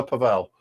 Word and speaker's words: Pavel: Paviu. No, I'm not. No. Although he does prefer Pavel. He does prefer the Czech pronunciation.